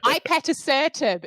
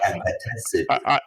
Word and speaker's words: ipatasertib: Ipatasertib is my version. Oh, I say abatasertib.